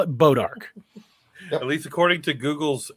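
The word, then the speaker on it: Bois d'Arc: It's a French name, but anybody that lives there calls it Bodark.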